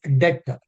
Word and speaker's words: debt: Debt is the sum that a person borrows from other. Actually, 318. DEBT, B is silent. You should pronounce it as debt.